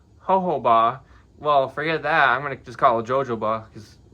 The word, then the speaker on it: jojoba: package, but I've been told that I've been pronouncing this wrong. Instead of called jojoba, it's called jojoba.